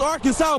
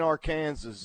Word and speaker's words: Arkansas: Yes, it's Arkansas, baby. And the first time I heard it, that's He goes, "And that's how you pronounce it. It's Arkansas." Uh, not it ain't our Kansas, Justin.